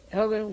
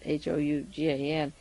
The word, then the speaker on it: Hougan: Hogan can write, I guess that's how you pronounce his name, it's Hougan, can write about Bobby